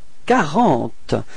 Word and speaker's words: quarante: And then we've got Q and U at the beginning of this word, and keep in mind that these two letters combined only gives you the possibility to pronounce K.